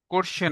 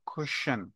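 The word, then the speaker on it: question: For example, কোশ্চেন, কোশ্চেন, quality, quickly, কুইন, quantity, quantity না ক না খ, কোয়ান্টিটি, কুইকলি না খ, কুইকলি, কোয়ালিটি না খ, কোয়ালিটি, কোশ্চেন না খ, কোশ্চেন।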